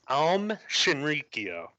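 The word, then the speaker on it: Aum Shinrikyo: is it a person the name is pronounced um Shinrikyo think of it like you know how yoga when they're in the stance then they're meditating they say oh yeah it's that basically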